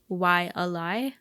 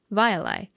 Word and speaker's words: Waiʻalae: Locals say Waiʻalae, but the correct pronunciation would actually be something like Waiʻalae, as the letter W is supposed to be pronounced as a V sound.